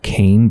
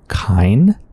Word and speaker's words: Kane: Oh, I think somebody told me that it's not, the last name of this family is not actually pronounced Kane, but I think Kine. So, Georgie Kine. I'm still probably going to call him Georgie, because I like it.